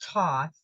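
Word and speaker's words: Thoth: card in a minute thought pronounced Toth also known as tahuti is the ancient Egyptian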